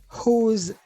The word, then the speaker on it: who: Who's that? M'a dit who, mais après on dit who parce que le W a pas prononcé.